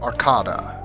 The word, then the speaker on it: Arcada: hallways aboard the starship Arcada. And yes, it is actually pronounced Arcada, it says so in the manual. I thought it was Arcada for a very long time, but it's apparently Arcada.